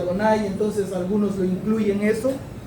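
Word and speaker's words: Adonai: que está ahí es Yudba se pronuncia Donay, entonces algunos lo incluyen eso.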